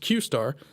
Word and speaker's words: Q*: directors that this project named Q pronounced qar was becoming so Advanced